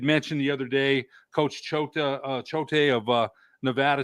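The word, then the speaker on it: Choate: Coach Chota uh Chote of uh Nevada says he's very good Ch what?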